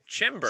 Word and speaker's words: Chymbor: It's like timber, but with a CH sound. Chymbor.